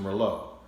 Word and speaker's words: Merlot: Where's your Merlot? Because it looks like Merlot, but it's pronounced Merlot.